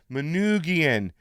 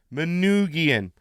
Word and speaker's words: Manoogian: voice message saying pasta you have to learn how to say my name Manoogian Manoogian so Manoogian Ghost